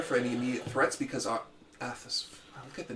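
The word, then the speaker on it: Athas: If Scott wants, he can scout the area for any immediate threats because Athus.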